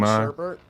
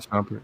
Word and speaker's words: Shumpert: Jenny Ma, who was Tiana Taylor dumping Inman Sherbert. Yeah. Iman Shumpert, yeah.